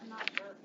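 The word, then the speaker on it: Mouzakis: Mouskowitz.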